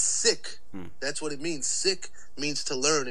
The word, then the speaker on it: Sikh: and enunciations so like the h is like there for a reason because it's like sick but like it's a little extra like right but like